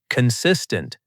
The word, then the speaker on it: consistent: Consistent. Pronunciation tip. Stress on the second part.